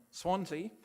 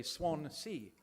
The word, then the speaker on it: Swansea: Some of you think you live in a sea that has lots of swans, so you say Swan Sea, whereas those of us